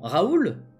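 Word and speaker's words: Raul: Donc ça se prononce comment ? Raoul.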